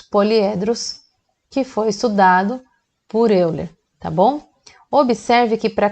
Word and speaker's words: Euler: Estou pronunciando Euler porque eu sou brasileira, mas se fala Euler, mas eu vou seguir com Euler mesmo, tá bom?